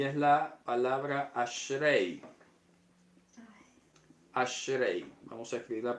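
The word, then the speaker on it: אשרי: de diferente manera y es la pal asre ashrei vamos a escribir la pronunciación aquí eh Muchas han sido las formas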